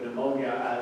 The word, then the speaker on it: pneumonia: wouldn't normally think of pneumonia as a connection to the spirit in fact you can see the words of the same existed we don't pronounce the p in english but you do agree